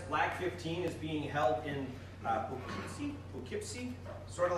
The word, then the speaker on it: Poughkeepsie: Also want to emphasize LAC15 is being held in Poughkeepsie, sort of like that it's pronounced, just outside of New York City, about an hour and a bit.